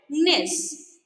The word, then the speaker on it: gneiss: Okay, how do you pronounce it? Gneiss.